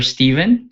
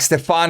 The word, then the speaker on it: Stefan: for inviting me is it stefan or stephen well it's actually both so i was like like like stefan is my is my real name and then because not